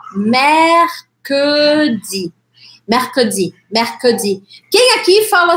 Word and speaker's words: mercredi: Temos dois sons de R e provavelmente o que